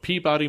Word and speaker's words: Peabody: right we have a uh philip mitchell of peabody massachusetts by the way great segway going from boston harbor to it it's pronounced peabody peabody peabody peabody peabody peabody was